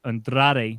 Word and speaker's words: Andrade: on the andrade part i can't even say it right andrade there we go i had to roll it a little bit there yeah well she said